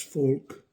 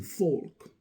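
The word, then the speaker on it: Volk: the concept of das folk and the German word it's pronounced like our English folk and it has admological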